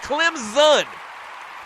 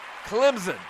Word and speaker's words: Clemson: And it is pronounced Clemson. The S kind of sounds like a Z. Clemson.